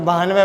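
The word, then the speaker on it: भानवः: तो भानवय विसर्ग लग रहा है तो भानवय बोलेंगे इसको।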